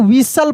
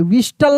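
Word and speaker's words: whistle: कैसल डब्ल्यू एच आई एस टी एल ई इसको विसल पढ़ेंगे। विस्टल नहीं कभी नहीं।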